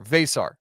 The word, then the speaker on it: Veesaar: It's just like v a y, like say, but with a v. V and then sar s a r vasar.